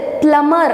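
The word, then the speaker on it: plumber: பட் பிளம்பர் அப்படின்றத எப்படி pronounce பண்ணுவோம் அப்படின்னா இந்த பிஏ சைலண்ட் ஆக்கிட்டு பிளமர் அப்படின்னு நம்ம சொல்லணும். ஸோ பிஏ ப்ரொனவுன்சியேஷன் இல்லாமல் நீங்களே சொல்லி பாருங்கள், பிளமர்.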